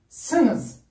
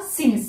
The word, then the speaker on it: sınız: Sınız. C'est pas le i, siniz. C'est pas siniz, c'est sınız. Siz mutlu olacaksınız.